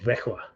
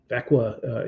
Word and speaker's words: Växjö: He's 5'10", 163-pound center playing for, this is a fun town to pronounce, but it's called Växjö. Växjö in Swedish Elite League.